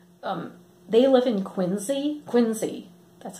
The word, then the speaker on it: Quincy: was there though um they live in Quincy Quincy that's how you say it they live in